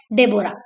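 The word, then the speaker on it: Deborah: थी, एने, Mary and डेबोरा। एने, Mary and डेबोरा, H silent रहता है इसलिए इसको डेबोरा पढ़ते हैं।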